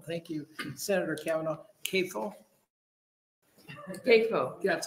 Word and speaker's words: CAFO: CAFO. That's how they're pronounced, CAFOs.